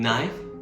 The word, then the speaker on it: knife: The classic example is the K in knife or num.